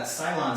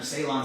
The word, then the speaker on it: Ceylon: and we're using uh Cylon cinnamon or Ceylon cinnamon depending on how you pronounce it in this particular